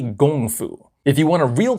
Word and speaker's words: kung fu: K was a G sound, and because of that, Americans proudly know the word kung fu. However, that's actually abysmally incorrect. It's really gong fu.